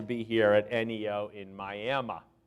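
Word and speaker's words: Miami: a thrill to be here at Neo in miam right did I say it right come on I want to hear it miam right yeah okay I've been practicing that for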